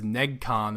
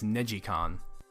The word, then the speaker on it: NeGcon: released with different ridge racer games i always pronounce the first one is negcon apparently it's negicon yeah that's been a hard habit to break